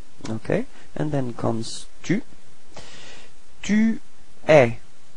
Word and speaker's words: tu es: Tu es. Alright, so you can notice that it's open eh, eh.